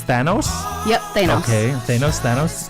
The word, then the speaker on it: Thanos: And the correct pronunciation of the main villain at the end of the big movie is Thanos.